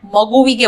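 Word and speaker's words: ಮಗುಗೆ: यहां बच्चे को magu कहते हैं, जबकि बच्चे को maguvige कहा जाता है। बच्चे के लिए, हम बातचीत के दौरान इसे maguge कहेंगे। यहां हम 'v' को छोड़ देंगे और maguge कहेंगे।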